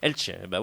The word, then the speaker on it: Elche: Et puis Rayo Vallecano contre l'équipe de Elche, ou de Elche, je ne sais pas comment on prononce. Elche. J'avais bien prononcé Elche.